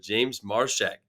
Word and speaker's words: Marchak: Okay, he hasn't corrected me on this yet, but James Marchak.